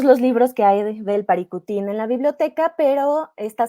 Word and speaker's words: Paricutín: verían surgir un volcán el Paricutín o Paricutín aprendí hace poco en su pronunciación más cercana al purépecha aquí lo que les